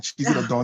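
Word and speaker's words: Chizzy tha Don: Cheesy the Dawn is well pronounced.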